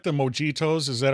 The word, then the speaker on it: mojito: I do like the mojitos. Is that how you pronounce it in Spanish?